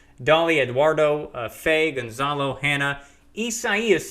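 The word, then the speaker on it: Isaias: Eduardo Fay Gonzalo Hana essayist is how you pronounce that one if I've got my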